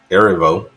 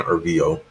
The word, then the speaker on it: Erivo: Stars Cynthia Erivo. I've been saying her name wrong for the longest. I've been saying Ervio. But it's Erivo.